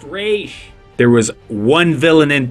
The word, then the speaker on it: Ra's: It's pronounced Raish.